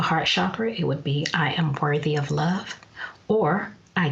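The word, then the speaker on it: Yam: jasmine chamomile and hyssop the mantra for the heart chakra is why I am and it's pronounced iam and during meditation the vowel is drawn out like this yeah alternatively as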